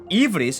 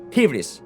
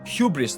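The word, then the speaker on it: ὕβρις: pronounce it as ivris, in ancient Greek it would be like a soft H, not a h, soft H, a hybris, you know? Hybris. It's not hubris though.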